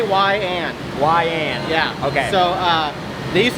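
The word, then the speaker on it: Weiand: That's probably correct pronunciation. yeah. So it's say YN. YN.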